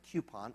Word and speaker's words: coupon: That's how you say it, by the way, coupon. Up in the north, we do.